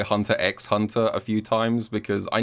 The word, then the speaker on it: Hunter x Hunter: And also, just advance warning, I'm probably going to say Hunter x Hunter a few times, because I know, before someone yells at me, I know you don't pronounce the X, but sometimes I do.